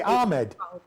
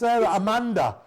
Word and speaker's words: Amanda: got my name wrong do i say ahmed it's amanda that's a and i'm always calling